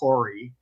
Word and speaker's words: Kouri: name is Kouri, like the spice.